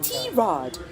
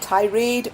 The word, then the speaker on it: Tirade: a goal for tomboy T Rod Asia's first and only English comedy chat podcast and mind you it's pronounced t- Rod not Tade or Tade or however else you want to call it yeah and we